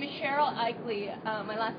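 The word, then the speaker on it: Aichele: say your name again my name is Cheryl eeley uh my last name is spelled a i c h e l e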